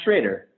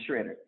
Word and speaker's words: Schroeder: It's pronounced Schroeder. Schroeder, great. But it's annoyingly confusing because it looks so confidently like Schroeder, but as it turns out, that's a trick. It's Schroeder.